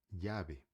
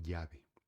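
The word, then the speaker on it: llave: digamos que praticamente tanto quanto o Y tem um som parecido, tá? É por isso que às vezes quando eu falo uma palavra com, por exemplo, chave em espanhol se escreve com tá? Você escreve chave, em espanhol se escreve jave com beleza? Dois ls. E eu falo jave, tá? um som mais parecido com Y, jave.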